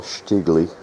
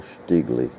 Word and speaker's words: Stiegele: am starting a new shotgun it's a Carl shigley friend of mine who was spent a lot of time in Germany said that's how you pronounce that Carl sley he was from Munich or as they pronounce